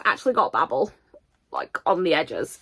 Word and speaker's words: Babel: this way because like Babble it's it's all Babel I know I'm pronouncing it the I know I'm pronouncing it the American way but Babel makes more sense in the context of the book anyway stunning edition of